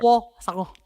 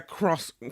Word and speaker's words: croissant: Croissant. They'd be like, you know what? Get back in line. Come back when you can say it right. Croissant. It's the R and the W together that gets croissant.